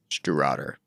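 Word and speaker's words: Stiùireadair: The pronunciation is Stew Rodder. I remember that being very, very good for the money. It means helmsman in Scots Gaelic.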